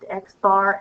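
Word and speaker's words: x̄: right now but just know that they are pronounced xar and mu and um xar is for the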